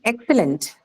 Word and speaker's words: excellent: Yes, it is an adjective, and hence the stress would be marked on First syllable, ma'am.